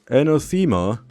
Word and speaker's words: Anathema: Anathema? Actually, it's pronounced anathema.